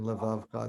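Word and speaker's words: לבבך: It's silent in levavcha. That is kind of confusing. It's pronounced under the l because it's the first letter. It's silent under the vet because it's ending the syllable vav. And then you have cha, also 3-syllable word. Like the sort of rule of thumb is if you have one of them in the middle of the word, it's usually silent.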